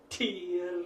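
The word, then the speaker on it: Tyr: When lowering the straight arms, pronounce the mantra, tear, and you strongly pronounce the T, and that gets the consciousness into activity.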